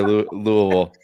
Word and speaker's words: Louisville: Clearly, you've never lived like anywhere near Louisville.